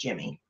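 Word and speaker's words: Gemmy: And in case you don't know, Jimmy makes, I think it's pronounced Jimmy, makes wonderful holiday kinds of lighted and animated stuff.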